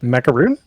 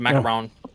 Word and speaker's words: macaron: chicken nuggets and a macaron. Chicken nuggets. Oh, I can't think. Wait. Wait. What' you call it? A macaron. is what she called. Macaroon. This is not a macaroon. It's a macaron.